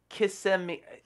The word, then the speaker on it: Kissimmee: It's Kissimmee.